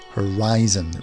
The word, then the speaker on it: horizon: then we have horizon horizon the eye is the strongest sound here horizon is not horizontal